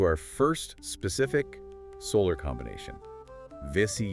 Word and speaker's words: Vesi: Vissy yoga. Sometimes it's spelled vetu with an h, right? Vishy yoga.